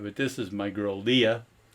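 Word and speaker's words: Liath: this is my girl Leah spelled l i a t h and that's uh gelic for gray but it's pronounced Leah and she's my girl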